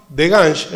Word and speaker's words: Degange: De Gange es como se pronuncia realmente, por lo cual yo digo de Gange, que es como decía mi papá.